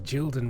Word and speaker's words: Gilden: Sadly, Gilden rhymes with children.